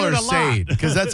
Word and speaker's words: Sade: Don't you love it when people inexplicably put an R in Sade's name? Sade. That is so interesting when they do that, because I call her Sade, because that's how you spell it.